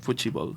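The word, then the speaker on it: futebol: so to speak fi ball that's how you pronounce it fuchi ball f ball nice you're very good at this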